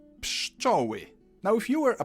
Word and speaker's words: pszczoły: P, sz, č, o, ły, I. Pszczoły.